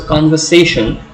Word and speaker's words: conversation: So conversation also has a slight accent on con. So it's like conversation. Main accent falls on the third syllable, but the first syllable also takes a slight emphasis, gets a slight emphasis.